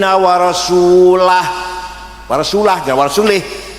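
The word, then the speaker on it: وَرَسُولُهُ: Ono wong maca Quran salah, wa annallaha bari'um minal musyrikin wa rasulih. Allah tidak melindungi orang musyrik dan tidak melindungi Rasulullah. Salah. Bacanya harus wa annallaha bari'um minal musyrikin wa rasulah.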